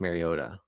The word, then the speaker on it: Mariota: like, by the way, my name is not pronounced Mariota. It's not a D, Yeah.